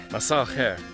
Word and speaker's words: مساء الخير: Masal khair, masal khair.